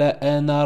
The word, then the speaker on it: أنا: يسعى فحشر فنادى فقال أنا ربكم الأعلى. Hein, je vous avais dit sur le mot ana, hein, le alif il ne se prononce pas.